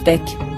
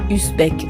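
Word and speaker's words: Usbek: c'est pour ça que je prononce ton nom comme il faut Beek et non pas usbeek à la française à ton époque la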